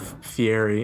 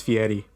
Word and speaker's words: Fieri: pronounce it it's not Fieri its fee Eddie you didn't know that no he was way too American to put an Italian accent on that last your ass just